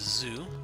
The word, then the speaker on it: ぞ: ぞ Pronounce it as zo, like in the word zone.